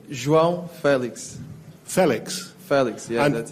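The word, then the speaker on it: João Félix: Your name, we apparently pronounce it wrong. Could you tell us how to say your name? João Felix.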